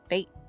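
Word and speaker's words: fête: didn't name this one how do y'all pronounce f-e-t-e oh it's it's fate fat yeah i was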